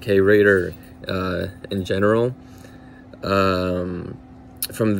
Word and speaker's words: Rader: start my last name is raider pronounced saint pronounced the same as the now las vegas raiders so i got asked